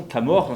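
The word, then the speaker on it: Camors: C'est pour ça que Camor, ça se prononce de cette façon, Camor, c'est RH en fait.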